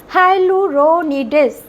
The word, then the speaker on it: হায়ালুরোনিডেজ: তার নাম হচ্ছে হায়ালুরোনিডেজ। উচ্চারণটা লক্ষ্য করো, হায়ালুরোনিডেজ।